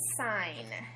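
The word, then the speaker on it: sine: are three of them the first one is called sign but it's not spelled s i g n like you would think a sign is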